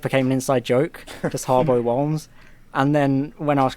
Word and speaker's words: Harbo Wholmes: If anyone has listened this long, you'll finally found out that it's pronounced Harbo Wholmes, not Holmes, not Whooms, Wholmes.